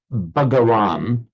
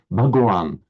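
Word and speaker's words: Bhagavan: the native speakers um ba and ba are completely diff different sounds. So the the the if you say buran um the Indian native Indian speaker particularly of of northern India will say ah that's wrong with bhagan because that h is distinctly sound sounded it's very small and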